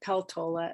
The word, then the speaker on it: Peltola: it is with Mary Pelt the law about peltola as she pronounces it with her when we're seeing the